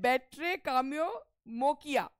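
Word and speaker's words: Batrachomyomachia: बेट्रा कोमो ये है बेट्रे काम्यो मोकिया। इसका प्रोनाउंसिएशन लिख रखा है बेट्रा काम्यो मोकिया, ठीक है।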